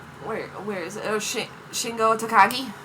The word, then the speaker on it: Takagi: How do you pronounce the last name? Where where is it? Shingo Takagi. Takagi.